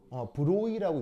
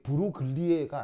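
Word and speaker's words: Broglie: 브로이라고 읽는다고 했죠. 이게 브로글리에가 아니고 이게 프랑스 사람이라서 발음이 좀 묘해. 나도 정확한 발음은 모르는데 드브로이 뭐 이렇게 읽나 봐야겠죠.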